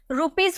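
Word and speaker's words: rupees: हमें लिखना हो रुपीज रुपीज को यहां पे हम इसे ज में प्रोनाउंस करेंगे क्यों क्योंकि एस से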